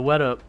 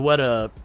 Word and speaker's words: Weta: had the W but I was trying to add like four too many syllables to it and you know in my head I'm like I know that's wrong but yeah the WETA the WETA workshop and uh we